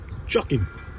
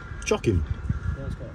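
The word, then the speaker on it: Chocim: Chocking. Huh? Chocking.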